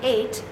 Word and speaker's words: eight: like ink you'll see this GH is silent also in a the four letter A let's do that one